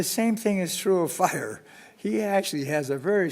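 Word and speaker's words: FHIR: um so hl7 I'm going to talk about fires pronounced fire I imagine you all have heard of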